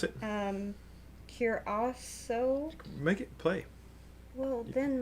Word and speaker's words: Curaçao: Okay, how do you pronounce it? Curaçao.